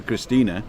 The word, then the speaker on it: Christine: Everybody spells it because I call her Christina because I pronounce the E on the end, but it's actually spelled just like the English name Christine, right?